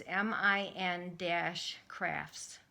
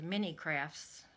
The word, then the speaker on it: Min-crafts: Anyway, it's MIN-crafts. And for a long time, I don't know, I thought it was Mini Crafts until I knew her name.